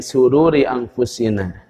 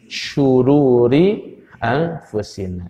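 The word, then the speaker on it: شرور: Bahaya kalau bacanya wa na'udzubillahi min sururi anfusina, dan kami berlindung dari kebaikan diri kami. Nah, itu salah. Yang benar apa? Wa na'udzubillahi min syururi anfusina. Syar itu artinya keburukan.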